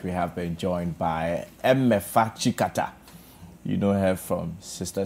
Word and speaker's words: Emefa Tsikata: Emefa Chikata.